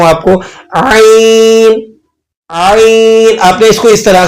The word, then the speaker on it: ع: आइन, आइन, आपने इसको इस तरह से प्रोनाउंस करना है, इसकी आवाज को बिल्कुल दुरुस्त तरीके से अदा करना है।